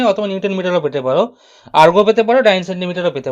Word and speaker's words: erg: আর্গ বলে, আর্গ, ইআরজি, আর্গ। Urge নয়, urge হচ্ছে ইউআরজিই, আর্জ, সেটা নয়, অনেকে এটাকে আর্জ বলে। আর্জ নয়, আর্গ, গ উচ্চারণ হবে লাস্টে, আর্গ, ঠিক আছে।